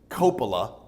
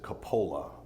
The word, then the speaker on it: Coppola: They pronounce it Coppola. We pronounce it Coppola. Now, depending on where you are in the world, both ways are correct because it's a very common Italian last name.